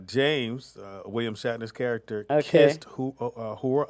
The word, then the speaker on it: Uhura: Now, one of the landmark things that happened in 1978 was on Star Trek when James, William Shatner's character, kissed Uhura. How you say it? Uhura.